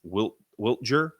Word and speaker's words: Wiltjer: Kyle Whittler, and I always forget how to say his name. It's Wiltjer.